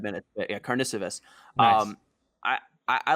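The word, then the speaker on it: Karnišovas: do like, and the name you're trying to pronounce, the GM, is Arturas Karnisovas. I was doing that last night for 5 minutes. Yeah, Karnisovas.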